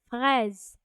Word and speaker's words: fraise: as banane, and a strawberry in French it's pronounced as fraise.